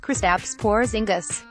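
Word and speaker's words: Kristaps Porziņģis: Dupri Johnson continued for it's pronounced kristaps porzingis and what is number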